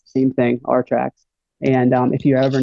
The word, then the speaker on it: RTRAX: all that and um it's called our tracks it's uh it's spelled a little weird it's r-t-r-a-x and uh what it is is it stands for our tracks and what we leave